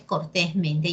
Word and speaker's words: cortésmente: ¿Por qué se llaman dítonas? Porque excepcionalmente, presentan dos sílabas tónicas. Dos sílabas tónicas. Estas palabras no son clasificables en agudas, ni en graves, ni en esdrújulas. Tengan cuidado porque a veces el internet dice otra cosa. Cortés, sílaba tónica número 1, y men, sílaba tónica número 2.